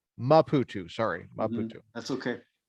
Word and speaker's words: Maputo: This is a class in the seminary in Maputo. Correct. How do you say the word of the name of the city? Maputo. Maputo.